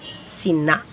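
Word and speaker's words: sinâ: It's spelled SINA, but the A has an abrupt stop sound. So you say SINA. When it's written, there is a caret or this symbol on top of the letter A.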